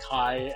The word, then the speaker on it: Kai: It says key, but if you look in the documents, it says Kai as in like K A.